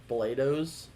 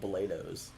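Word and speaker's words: Bloedow's: Blados. It's spelled super annoying. I can't stand the way it's spelled. But you love their donuts? Yeah. It's Bloedows, but it's called Blados.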